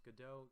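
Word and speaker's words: Godot: cool tool called gdau it looks like God dot but my understanding is it's pronounced gdo correct me if I'm wrong on that it looks like go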